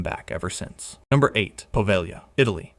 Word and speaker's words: Poveglia: Number eight, Poveglia, Italy. Pronounced Poveglia.